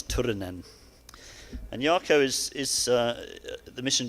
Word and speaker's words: Turunen: you pronounce his name but you need to roll the R's Turin n and Yakko is the